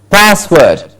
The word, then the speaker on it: password: next word password exactly remember it's not password it's passed gets a stress password okay password then we